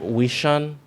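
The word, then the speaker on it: 微信: no I my Chinese where the pot is we shun which is the chinese version of WeChat so nothing that's how they say it we shun uh-huh yeah all right let me let me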